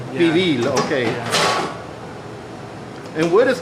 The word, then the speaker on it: pibil: Am I pronouncing that correctly? Pibil. Pibil, okay.